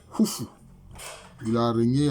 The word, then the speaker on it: Khufu: En fait, la bonne prononciation c'est Khufu. Voilà, la bonne prononciation du nom de ce Nessout-là, ou pharaon, c'est Khufu.